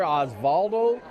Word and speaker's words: Osvaldo: How you pronounce his name? Oswaldo. Okay, got a little pronunciation lesson here. Osvaldo Diaz Garcia from Corden.